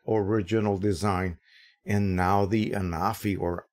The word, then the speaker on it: Anafi: design and now the anafi or anafi as it is pronounced apparently in France so let me give